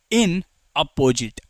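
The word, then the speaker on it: inapposite: और इन नेपोसिट, है ना। कोई इसे बोलता है कि इन अपोजिट, अच्छे से ऐसे बोलोगे।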